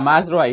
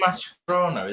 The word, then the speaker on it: Mazraoui: say Mascherano? Is that what you said? Yeah, I don't know. I don't know. It's Yeah, pronounce it's his name right. Mazraoui.